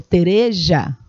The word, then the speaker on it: Teresa: E a filha dele mais velha, a dona Teresa, que era chamada de Tereja, né, pela pronúncia castelhana, a dona Tereja, ela era a filha mais feia, aquela que não queria, que ninguém queria casar.